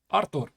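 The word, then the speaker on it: Artūrs: to jump to b5 how do i pronounce my name in latvian artur that's how it pronounces so rook see it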